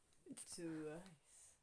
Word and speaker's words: Twice: Twice. C'est la seule façon correcte de prononcer Twice.